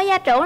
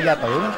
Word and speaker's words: gia trưởng: Bạn ơi, bạn có gia trưởng lắm không? Mình không gia trưởng rồi. Gia trưởng chứ không phải gia tưởng.